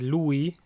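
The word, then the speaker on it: lui: he or she is Louie lay so Louie means he it's two syllables Louie and I lay one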